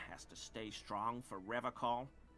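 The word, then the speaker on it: Revachol: I've been tempted on occasion, but someone has to stay strong for Revacol. How do Revacol? you pronounce it? He's pronouncing it like alcohol.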